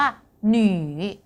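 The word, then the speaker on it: 女: ตัว อักษร ตัว นี้ ออก เสียง ว่า หนี หนี หน นะ คะ แปล ว่า ผู้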